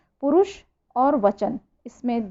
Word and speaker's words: पुरुषः: इसका उच्चारण करेंगे, विसर्ग लगा हुआ है तो पुरुषः, ठीक है।